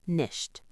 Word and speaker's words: nicht: The sentence is, Ich arbeite nicht. It means, I don't work.